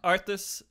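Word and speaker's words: Arthas: and I thought like maybe Frosty was just mispronouncing it no but it is arth okay lot of R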